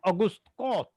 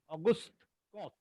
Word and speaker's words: Auguste Comte: It is called Auguste Comte. Auguste Comte.